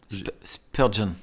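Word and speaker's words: Spurgeon: texte que je vais lire de on le prononce Spurgon.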